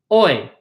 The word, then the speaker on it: hoy: This H in hoy is silent. It's not hoy, but we pronounce it as hoy.